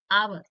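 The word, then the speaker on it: hour: एन आवर आवर में इसके एच से स्टार्ट हो रहा है। कंसोनेंट से स्टार्ट हो रहा है। ए लगना चाहिए था। बट यहां पे एस साइलेंट है तो हमने लगाया है एम।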